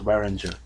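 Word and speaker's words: Varanger: this one called waringer if it's a v you pronounce it w so it's weinger really uh just a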